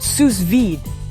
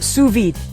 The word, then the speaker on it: sous vide: It's called susvid, pronounced suvid, and honestly, it's not as intimidating as it sounds. Suvid, which is French for under vacuum, might seem like